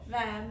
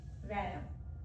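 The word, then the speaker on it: vyayam: the previous one, they are subtle asana, sukshma vayam. That's what they call it as. Sukshma? Sukshma means very subtle, tiny. Oh. Vayam means exercise, asana, practice. Okay. Asana practice. Right. Vayam.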